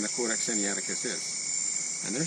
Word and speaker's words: Sinaiticus: Okay, but the Codex Sinaiticus ends with C-U-S, but it's pronounced C-U-S-S. I find that rather interesting. We're just going to go to, I have an actual printing by Codex Sinaiticus, D.C.